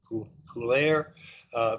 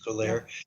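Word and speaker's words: Cuellar: congressional district, where the congressman there, I always mispronounce his name, I guess it's Coulaire. He's Hispanic, Henry Coulaire.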